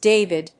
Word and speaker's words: D4vd: D4VD was a social media savvy singer making breakthroughs. D4VD, pronounced David, gained popularity among Gen Z for his blend of indie rock, R&B, and lo-fi pop.